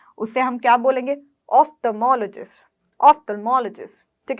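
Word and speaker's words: ophthalmologist: तो आप जनरली क्या बोलते हो, ऑप्थेल्मोलॉजिस्ट। ठीक है, तो इसकी प्रोनाउंसिएशन को देखना आप, OPH को हम ऑफ्थ, देखिए ऐसे बोलेंगे, ऑफ्थेल्मोलॉजिस्ट, ऑफ्थेल्मोलॉजिस्ट। ठीक है, तो इसकी प्रोनाउंसिएशन हम क्या करेंगे, OPH को ऑफ्थ बोलेंगे।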